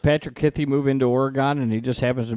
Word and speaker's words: Oregon: move his family to Oregon. You got to say it right, Mystery Mark. Oregon. Not Oregon. Not Oregon. Oregon. Damn, It's sorry. It's like the two words, or again.